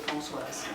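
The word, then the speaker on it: Françoise: let everybody know that my name is pronounced Francoise. Not Francois.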